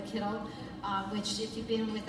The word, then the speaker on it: kittel: And I'm also wearing the kittel, or the kittel. To say it the right pronunciation now, the kittel, which if you've been